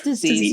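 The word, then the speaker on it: Dis-ease: as Dynamite, 4 as disease, I guess you say that. How do you say it? It's disease. Yeah.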